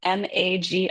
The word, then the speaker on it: MAGI: M A GI. I had to Google how to say it. The internet says you're supposed to say MAGI.